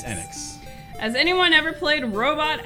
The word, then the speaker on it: Enix: One last question involving Enix. Has anyone ever played? I can never agree on how to pronounce that. Enix. It is Enix.